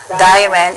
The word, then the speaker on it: Dairen: This character here is pronounced Dairen in Japanese and Dalian in Chinese.